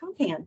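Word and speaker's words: KOMPAN: Is it pronounced Compan? Compan, yes, it is. Compan.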